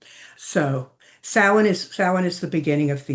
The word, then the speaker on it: Samhain: is the holiday of Samhain. And it's not pronounced anywhere close to how it's spelled. So Samhain is the beginning of the year.